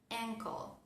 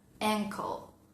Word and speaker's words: ankle: Y también, al igual que vimos en la clase pasada, cuando tenemos la tríada CLE o KLE al final de una palabra, nos aparece una vocalcita accesoria para poder pronunciar la palabra correctamente. Ejemplo, ankle, ankle, tobillo, ankle.